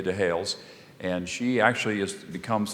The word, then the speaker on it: Dehailes: Lydia married to Hales now it's spelled d-e-h-a-i-l-e-s Lydia de hails and she actually is